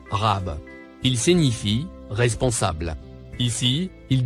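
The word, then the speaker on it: رب: Le mot en surbrillance jaune se prononce Rab.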